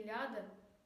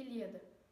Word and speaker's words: Ilíada: erro de pronúncia que ao invés de dizer Homero e ilada se pronuncia Homero e Ilíada pode seguir com a